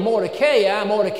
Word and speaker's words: Mordecai: He said, you pronounce the name of Mordecai, and I wonder why you did that.